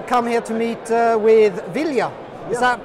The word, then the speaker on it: Ville: Okay, we've come here to meet with Ville. Is that pronounced correctly? Yeah. Ville, okay, and you are?